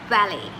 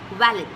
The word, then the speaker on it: valet: to pronounce it but in English it's Valley Valley or valid valid valid is a proper pronunciation is is also an accepted and a proper right pronunciation you can say valid although some people and some nations to say as Valley like most Indians I think we say valet parking yes it's used along